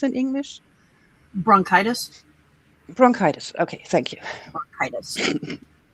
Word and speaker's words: bronchitis: How is it pronounced in English? Bronchitis.